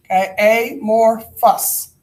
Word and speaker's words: amorphous: an amorphous solid and this is pronounced a more that's an F sound Fuss solid a more fuss no tell me is that a work I'll sound like a bunch of illiterate fools what's available pronounced a more fuss all right this one